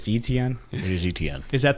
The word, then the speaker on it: Etienne: Do is you, how you I have that pronounce good it. authority? It's ETN.